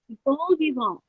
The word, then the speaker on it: bon vivant: good, yay, is did I pronounce that right? Bon vivant, bon vivant. How do you say that? Bon vivant.